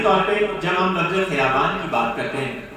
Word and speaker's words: خیابان: پہ جب ہم لفظ خیابان کی بات کرتے ہیں، فارسی میں زیر کے ساتھ اس کا تلفظ کرتے ہیں، اردو میں دونوں طرح رائج ہے کہ خیابان اور خیابان دونوں طرح سے اس